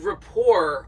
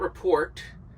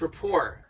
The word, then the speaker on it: rapport: How do you say this word rapport? I always have to do a mental note. It's not report, it's rapport. It's rapport.